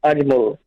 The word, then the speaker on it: Adjmul: It's pronounced as Adjmul. Admol. So we can the J Adjmul. Adjmul. Adjmul, right? Okay, so the J is slightly silent.